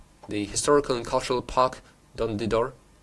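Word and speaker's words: Dondydor: historical and cultural park, Dondidor. I'm sorry if I'm mispronouncing that. Don't the door. Am I right? Yes, that's right.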